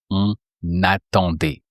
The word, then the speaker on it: on attendait: So you say on attendait. On attendait. So then can you say, we were waiting in the living room? Just that, just we were waiting in the living room. On attendait dans le salon.